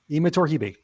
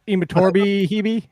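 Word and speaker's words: Imatorbhebhe: not the one that so the b is silent so it's not it's not imitorbi i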